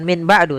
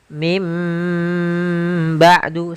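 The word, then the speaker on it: من بعد: Contoh lagi, misalkan min ketemu dengan ba'du, maka kita bacanya dengan bukan min ba'du, tapi mim ba'du sambil ditahan dengan gunnahnya. yaitu suara nun yang dirubah menjadi suara huruf mim.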